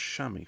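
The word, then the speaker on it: chamois: Shamy leather that is pronounced shammy for some reason but to me it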